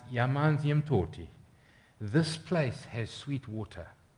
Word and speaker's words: Amanzimtoti: I think of a story I was told, and I'm sidetracking slightly, but do you guys know the town Amanzimtoti? It's actually pronounced Yamanzimtoti.